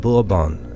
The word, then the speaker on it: Bourbon: under the House of Bourbon and creating his desired Franco-Spanish Empire. Is that how you say it, Bourbon? Bourbon? I've always looked at it and said the House of Bourbon, but it's Bourbon.